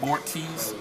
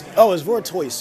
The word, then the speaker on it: Vortoise: It's Vortoise, because it's like a tortoise.